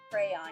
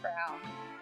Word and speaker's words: crayon: Crayon. Yeah, it's crayon. Yeah, I always called it crown. Crowns. I always called it crowns. It's a southern dialect thing, okay?